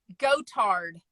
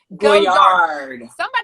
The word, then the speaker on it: Goyard: Oh, Gotard. Gotard? I thought it was like with a T-A-R-D. Goyard.